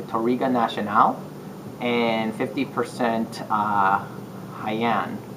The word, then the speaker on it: Jaen: is 50 percent toriga nationale and 50 uh haiyan it's spelled like gene but it's pronounced like haiyan